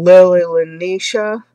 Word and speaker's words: Lele Lineca: n um suggested that I watch a video by I think she pronounces her name Lily lenisha it's l e l e and N I ca um she has does